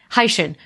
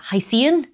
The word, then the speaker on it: Hycean: sure how to pronounce I'm pronouncing it like high from hydrogen and shin from Ocean so hyphen but like as it's written in English you would probably pronounce it as like hycian pretty sure it's Hai Shin but let me know